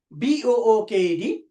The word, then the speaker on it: booked: After the voiceless sound, ed or d is pronounced as ta. For example, booked, booked.